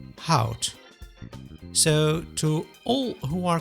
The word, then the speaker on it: hout: The last letter in both words is pronounced as T.